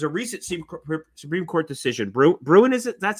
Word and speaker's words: Bruen: Bruin, is it? That's how it's pronounced?